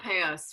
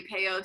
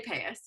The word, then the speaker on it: payos: spelled probably people say pay out somewhere there's a lot of variation depending on where you grew up and whatnot but I learned to say pay us so pay us the